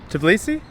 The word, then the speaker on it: Tbilisi: capital city of tablissi someone told me a few people told me that there is a silent t but our local guide just told me that it's not so i hope i'm saying that correctly tobilisi kind of sounds like i don't know blissey the pokemon but it is really